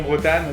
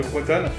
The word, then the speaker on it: Bretonne: Désolé à mes à mes bretonneuses à mes bretonneuses sûr désolé d'avoir d'avoir raté cette prononciation de non Bretanne, de Bretonne.